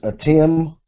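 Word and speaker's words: אתם: This next word is atim.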